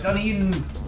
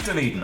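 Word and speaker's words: Dunedin: up yeah the the it is doneen okay cuz C ankles dened New Zealand is named after the Scottish place but the the pronunciation slightly different and the spelling is different as well like all the weird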